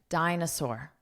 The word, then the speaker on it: dinosaur: Notice the pronunciation, dinosaur, dinosaur. So here, this is one sound, sore, sore. Like I have a sore arm, dinosaur.